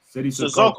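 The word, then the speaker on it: Cissoko: Sissoko? Does anybody pronounce his name right? Hey, can you pronounce his last name, please? Making me look like Sissoko. Sissoko.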